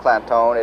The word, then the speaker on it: Clanton: And while Clantone is pronounced Clantone, it is actually spelled C-L-A-N-T-O-N, but they put the emphasis on making it sound Clantone.